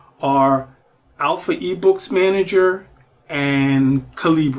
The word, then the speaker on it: Calibre: ebooks man and calib although some people call it caliber but I don't pronounce it that way because I feel like Libre is in the title and Libre is books and free I'm going with Libre So Cal and Alpha